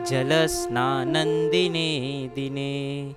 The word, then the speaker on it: जलस्नानं दिने दिने: तो अब जब भी श्लोक में अगर द अक्षर आता है और उसके आगे के अक्षर पे अगर अनुस्वार आता है तो वहाँ पे हम म की जगह न का उच्चारण करेंगे। मलिनिर्मोचनं पुंसां जलस्नानं दिने दिने।